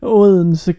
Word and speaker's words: Odense: Can you say how you pronounce that, Troy? Odense classic.